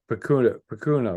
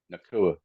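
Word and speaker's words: Nacua: So, yeah, hey, Pacuna, right? Nakua.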